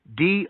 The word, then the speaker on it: doughty: Though doughty sounds like the word doubt, it's spelled differently. Doughty.